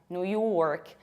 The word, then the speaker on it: New York: And as a result, you have New York. Pay attention to how much I pronounce r. York, New York. In British accent, we would say New York.